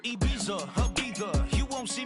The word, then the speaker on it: Ibiza: Yeah, it's pronounced Ibiza, actually. What's the difference, man? Ibiza, Ibiza, you won't don't see me in neither.